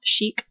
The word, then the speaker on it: chic: were trying to pronounce chic. There is no way you would pronounce chick with a K as chic, S-H-E-E-K.